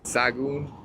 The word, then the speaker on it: Sahagún: Sahagún. I think the H is silent.